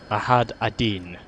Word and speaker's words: Majd Addin: let's now go after i had a deen as which i have learned that is what the correct pronunciation is although first of all